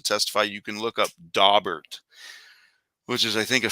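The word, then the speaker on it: Daubert: is suitable to testify you can look up dobert which is i think a federal case and it's spelled d-a-u-b-e-r-t and that might be interesting reading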